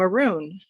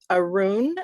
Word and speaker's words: Arun: he said, "Hi, I'm Arun." And I said, "Arun?" And I just wanted to make sure I had the pronunciation of his words, of his name correct. And he said, "Yeah, rhymes with maroon."